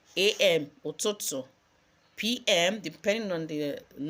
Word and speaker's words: ụtụtụ: AM is ụtụtụ.